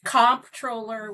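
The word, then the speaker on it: comptroller: it and they say they've heard it pronounced controller, comproller. Tell us what a controller does and it's all about the bucks, right? That's absolutely right. And it is comproller with a P.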